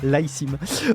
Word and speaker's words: iSIM: Je vais le prononcer comme ça, l'iSIM. Je suis, et pas d'Alsim comme dans Street Fighter.